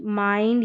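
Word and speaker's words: mind: अब इसको फिंड करके, विल्ड करके, बिंड करके, मिंड या चिल्ड ऐसे नहीं पढ़ते हैं, आई का साउंड आई करके होता है।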